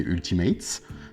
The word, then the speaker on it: Ultimates: Et non pas Ultimate, c'est Ultimates. En anglais, toutes les lettres se prononcent.